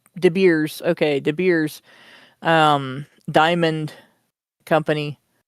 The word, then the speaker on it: De Beers: De It's spelled Beers. like De Beers.